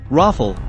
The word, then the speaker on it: Rafale: 2020 presentation super fighter the daso rafale french pronunciation raffle literally meaning gust of